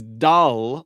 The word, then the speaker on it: dal: The first one is dal, like a d like in David.